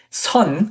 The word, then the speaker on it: Sŏn: So, for example, if you are a Sun, which is the Korean pronunciation of the word Chan or Zen, right?